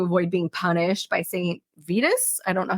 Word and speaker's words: Vitus: But they also thought it was a way to avoid being punished by Saint Vitus. I don't know how to pronounce Latin. Saint Venus? Vitus, Vitus.